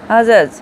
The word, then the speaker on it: adjudge: এগুলো সব, এই অক্ষরগুলো প্রত্যেকটায় এরপরে ডি আছে, কিন্তু ডিটা উচ্চারণ হচ্ছে না, কিন্তু আমি ছোটোবেলা থেকে এতদিন পর্যন্ত এই ডিটা উচ্চারণ করে করে পড়ে এসেছি।